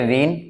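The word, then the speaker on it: won: अच्छा वैसे मैं इसको गलत बोल रहा हूँ, वॉन नहीं बोलते, this is pronounce a वन, है ना, वन बोलते हैं इसको, हालांकि आपको थोड़ा सा अजीब लग सकता है मे बी, बट यस वन इसको प्रोनाउंस करते हैं।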